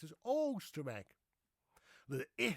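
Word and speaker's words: Oisterwijk: use the old ancient spelling Oosterwijk, which we pronounce as Oosterwijk.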